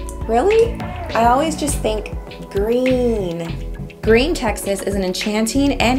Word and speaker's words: Gruene: is one of the hardest Texas cities to pronounce groom grin growing granny really I always just think green green Texas is an enchanting and historic town located